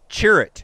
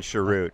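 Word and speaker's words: Cere: wind condition is uh cherit yes however you say his name we we we've decided it's Cher rather than sherut we've decided yeah if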